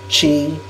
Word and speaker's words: qi: Chi is also known as CHI, Chi. Chinese spell it QI, and Kong is spelled KO.